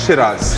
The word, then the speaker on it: Shiraz: they call it Shiraz. Shiraz. It's just the pronunciation thing.